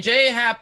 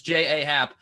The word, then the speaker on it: J.A. Happ: Happ, really, I'm glad that you pronounced his name J.A., Erik, because it's the incorrect way, but it's actually the correct way. Because you don't get to say your name's J Happ when it's J.A. Happ.